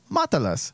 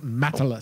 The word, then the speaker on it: Matalas: Spanish a little bit I know how to pronounce Spanish and I thought it was matalas so I'm I'm calling him matalas and then we find out like less than a week ago it's Methodist well and I'm